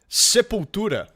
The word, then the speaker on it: Sepultura: Sepultura.